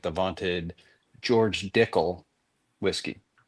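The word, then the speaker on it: Dickel: like the vaunted George Dickle whiskey. It's Dickle. It sounds like tickle, but it's different.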